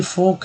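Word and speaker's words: folk: तो दोस्तों ये जो है काम है, ये फोक है। एल यहाँ भी उच्चारण नहीं हुआ, यहाँ भी एल उच्चारण नहीं हुआ।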